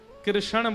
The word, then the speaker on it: कृष्ण: ठाकुर जी का नाम लोग अधिकतर कृष्ण शब्द का उच्चारण गलत करते हैं। कई लोग कृष्ण कहते हैं। कई लोग कृष्णा बोलते हैं। कई लोग कृष्ण बोलते हैं। बहुत उच्चारण उसका शुद्ध नहीं कर पाते। शुद्ध उच्चारण कृष्ण जय।